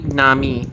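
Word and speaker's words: 波: Okay, because genuinely, this character, by the way, for those of you who are still learning Japanese, the Pure Japanese pronunciation is actually nami, like in the case of like tsunami.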